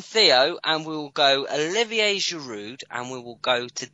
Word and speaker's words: Giroud: Right then, we'll move on from Theo, and we'll go Olivier Giroud, and we will go to Danny.